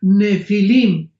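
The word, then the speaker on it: Nephilim: es la palabra nepil con n de Nancy y pH intermedia Ne pilim se pronuncia nefilim en el original hebreo esta palabra en su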